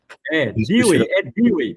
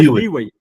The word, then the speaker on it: Dewey: Dewey, pronuncia Dewey. Dewey, pronto.